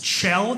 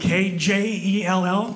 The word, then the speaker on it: Kjell: It's Kjell. It's Norwegian. Spelled K-J-E-L-L.